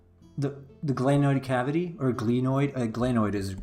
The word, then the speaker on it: glenoid: The glenoid cavity, or glenoid, glenoid is the correct term, though, correct pronunciation as far as I know, medical term.